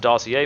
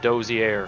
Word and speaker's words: dossier: is this screen here which says el rubio dossier it's pronounced dossier mr boss not dozier all right and el rubio translates to the